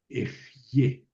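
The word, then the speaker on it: אהיה: Eh eh eg ejé suena así en en en hebreo. Eje. Eje.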